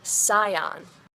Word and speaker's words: Scion: When I asked, how do you pronounce the name of this car? The saleswoman looked put out and said, "Whip-de-doo." Scion.